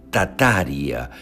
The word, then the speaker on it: Tartaria: qué es la tartaria la tartaria originalmente pronunciada como tataria sin la primera r es el nombre de